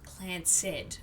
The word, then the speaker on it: Clancid: The Clanced Trust, pronounced Clanced, okay.